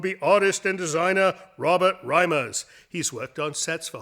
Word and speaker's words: Reimers: I don't know how to pronounce your last name. It's Reimers.